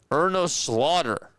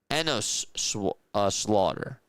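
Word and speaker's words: Enos Slaughter: Cardinals trade longtime great Ernos Slaughter to the Yankees. That's what his name was. Enosh Slaughter is actually how you say it.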